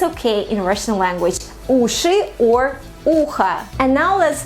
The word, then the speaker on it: уши: Please pay attention to the last sound of the word, because it's not ushi, it's not like that. It's ushi, ushi, sound at the end of the word, ushi. So again, we say ushi